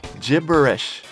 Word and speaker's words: gibberish: なんかわけのわからないおしゃべりはやめてご飯に行こうっていう風に言ってます。このわけのわからないおしゃべりっていうのが私にはちょっと発音が難しいんですけど How do you pronounce it, Joe? Gibberish.